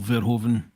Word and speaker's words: Verhoeven: See, Brown said there because of the Paul Verhoeven V is pronounced as an Ah. F.